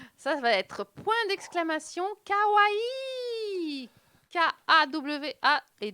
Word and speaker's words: kawaii: Bah, en japonais, on prononce toutes les lettres. Voilà, il n'y a pas de combinaison de syllabes, de voyelles.